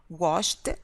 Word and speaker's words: washed: played, as in washed, washed. See, it's not da, it's ta.